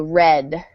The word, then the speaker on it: read: it yep and then the past participle is spelled the same but the vowel changes to a short e sound so red yeah just add some arms it sounds just like the color yeah read it like